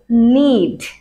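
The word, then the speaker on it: knead: তার পরবর্তীতে আমাদের জন্য আছে নিড। নিড, সো এখানে যে কে আছে এটা কিন্তু অ্যাজ ইউজুয়াল সাইলেন্ট, তো এটাকে আমরা সিম্পলি বলতে পারি এভাবে নিড।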